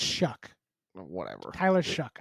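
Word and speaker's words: Shough: The only thing that I go back I know it's it's Shuck. Whatever. Tyler Shuck. I was saying show. It's Shuck.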